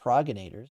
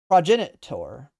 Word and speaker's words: progenitor: Well, you definitely don't make the G sound, right? It's not progenators. Progenit progenit progenitor. Progenitor, right? Progenitor. Okay. Prod It's progenitor. Okay.